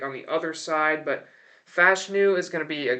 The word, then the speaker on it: Fashanu: out of Penn State it is pronounced fashu by the way Olu said it himself so for everyone's saying it's fashanu it's not but they desperately need help